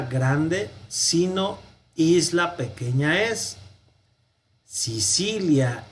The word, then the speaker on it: Sicilia: Sicilia, la C con la I suena como che.